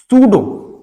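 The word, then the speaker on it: pseudo: common सा word है सूडो सूडो यह जो प है जो पी है आपका यह क्या होगा यहां प साइलेंट होगा सूडो का मतलब क्या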